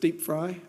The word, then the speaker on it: DPFRI: It's called DPFRI. It's pronounced DeepFry.